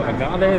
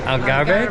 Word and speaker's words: Algarve: So we just got our tickets for Sunday morning to go down to Agave. That's like the Agave? How do you say the southern coast? Algarve, the southern coast.